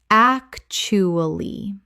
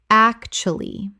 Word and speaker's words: actually: Actually. Correct pronunciation. Actually. 3 syllables in natural speech. The middle U almost vanishes.